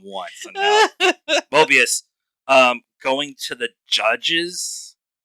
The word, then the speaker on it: Mobius: um it's also uh Hunter 17 B15 and morbius mor Mobius Mo I said it wrong once Mobius um going to the judges um Council uh